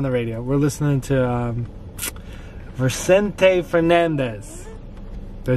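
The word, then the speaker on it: Vicente Fernández: We're listening to Vicente Fernandez.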